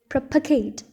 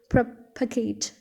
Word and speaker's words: propagate: For example, Latinized word propagate, here the stress on pa, and in English, this same word as propagate, here the stress on pro.